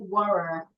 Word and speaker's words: water: Now, because of the letter R here, Americans will articulate it and say water. British will not articulate it.